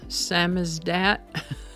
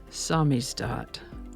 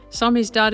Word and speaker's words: samizdat: way spelled it looks like it would be pronounced Sam is that or Sam as that but the correct pronunciation is samis do samis do is a noun it's a Russian word that